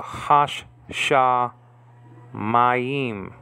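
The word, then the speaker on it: השמים: So you have the article ha, and the sh is double, so you have to put a sh with the first syllable, so hash. And then the sh remains in the second syllable, and then you pronounce that first, sh, and then the A class underneath it is like A, like in father.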